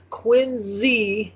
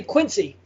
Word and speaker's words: Quincy: here we go yeah john quinn z with the z adams okay now here i'm gonna just get this out there so all these videos you watch they all say quincy every one of them